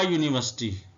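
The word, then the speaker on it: university: आ यूनिवर्सिटी, ये शुरू तो हो रहा है वावल के साथ, लेकिन आ इसलिए लगा कि ये यू की आवाज़ जो है ना वो साउंड ये वाई की निकाल रहा है, यूनिवर्सिटी, आ यूनियन।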